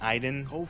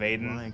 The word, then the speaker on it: Aiden: Pronouncing Aiden is Iden. I think apparently it's a French pronunciation. Iden instead of Aiden Clayton.